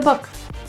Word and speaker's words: book: He does things by the book. The two O's in book are pronounced as an upsilon sound.